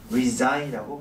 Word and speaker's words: resign: 것 resign이라고 얘기를 해요 r s GN resign이라고 발음을 하지 저 resign 아니지 인이다